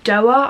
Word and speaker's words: Doerr: It's a must read, and that is All the Light We Cannot See by Anthony Doerr. I believe that is how you pronounce his name.